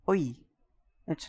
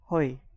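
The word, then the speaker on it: hoy: So for example, H O Y is O. It's not Hi. It is OI. Y is pronounced as E.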